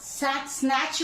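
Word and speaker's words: snatch: क्यों नहीं आता? क्योंकि टी सी एच के ठीक पहले है। सो tea before C एच, टी is silent. हमारा रूल कहता है टी before ch, then this t is silent। अगर t हो ch के ठीक पहले तो हमारा ये t साइलेंट होता है।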